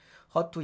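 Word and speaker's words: HER2: 될 거 같고 그래서 허트 예 발음은 허투 양성 대장암 대상 AI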